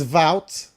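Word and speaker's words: Wout: a for a start, his name's not Woo. It's no, there's no pronunciation in this world where it's anything like woot. It's it's vout. It's vout. It's v. It's not woo. Woo is woo is not anywhere close.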